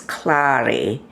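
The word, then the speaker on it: Klari: from budapest and my name hungarian name is clary k-l-a-r-i was my maiden name and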